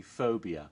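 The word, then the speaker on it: 4bia: And Phobia, that's spelled 4, like the number 4, and then B-I-A, Phobia, but it's actually Phobia, which was an anthology horror film in Thailand.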